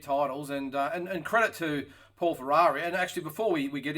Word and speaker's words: Ferreri: Is that how you pronounce it, Paul Ferrari, or is it Ferreri? No, Ferrari.